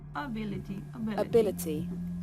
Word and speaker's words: ability: Able suena el diptongo, able, mientras que en ability suena schwa.